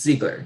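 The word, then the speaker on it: Zeigler: just tell them, okay, so you spelled your last name Z-E-I-G-L-E-R. Okay, and then they will tell you it's Ziegler.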